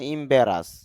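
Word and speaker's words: embarrass: হবে ইমবেরাস কেন ব্যারাস ব সাউন্ডের উপরে একটা ফোটা দেওয়া আছে এটা হল স্ট্রেস সিম্বল অর্থা অর্থাৎ চাপ দিতে হবে। তাহলে এখানে যদি চাপ দেই উচ্চারণটা হবে ইমব্রাস।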